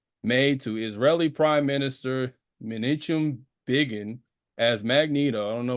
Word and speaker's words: Menachem Begin: You will hear me say it wrong throughout the episode, but so it's Menachem Begin.